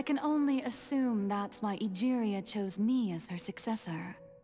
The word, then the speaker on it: Egeria: Egeria, not Aguria.